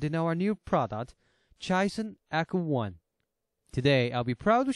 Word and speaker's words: ECO: Firstly, as everybody knows, echography is a sound technology like ECO. So, we took the same pronunciation ECO, like echography, for the easy memory.